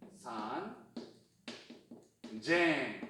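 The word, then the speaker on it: 三千: 3000, 산, 쟁. 발음 바뀝니다. 산쟁이에요, 산쟁. 그러면 몇 천은 뭐다?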